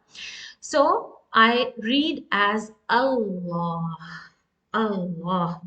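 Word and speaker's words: الله: Allah. This is hamzatul wasl, and it has to be pronounced when there is no other word before this lafzul jalala.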